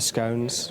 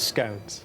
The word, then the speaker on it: scone: How do you pronounce these? I pronounce them as scones. Like I would and like we would. Okay. But so many people here call them scon.